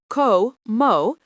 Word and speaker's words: como: Como pronounced com mo means I eat.